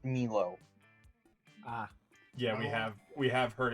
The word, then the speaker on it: Milo: Their name is pronounced Milo.